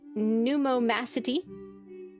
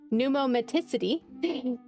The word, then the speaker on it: pneumaticity: Reconstructions of the neck and thorax of diploidas show great pummacity. I know I pronounced that wrong. pneumaticity which could have played a role in respiration as it does in birds.